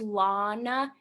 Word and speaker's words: Lana: Rey Oh Lana oh sorry it's it's Lana it has a long a well you'd know all